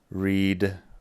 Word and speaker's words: read: Read, read, que es leer. Cuidado aquí porque se escribe igual, pero suena distinto. Read, read, read en pasado.